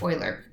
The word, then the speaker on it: Euler: types of graph theory I know that this looks like Euler it's German though it's a madman he was a mathematician and it's pronounced Euler ok true or false ABC